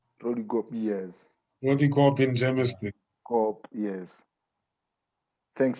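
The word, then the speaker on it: Roodekop: He's from Sikukune, and he's currently at Rodiport.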